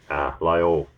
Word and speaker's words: Lyell: But the reading of, how do I pronounce that name? Lyell.